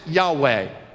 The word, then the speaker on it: Yahweh: tetragrammaton we pronounce it Yahweh we pronounce it Yahweh it's the Hebrew pronunciation of those four consonants okay to lessen eyes